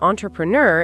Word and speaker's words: entrepreneur: And finally nur like newer but just ner with the stress on it. So al together onreneur and an entrepreneur is someone who starts their own business.